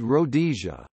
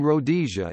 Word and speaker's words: Rhodesia: It is not clear why the name should have been pronounced with the emphasis on the second rather than the first syllable.